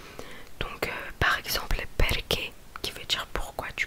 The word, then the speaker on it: perché: Mais oui, donc CH se prononce que. Donc par exemple perché qui veut dire pourquoi du coup.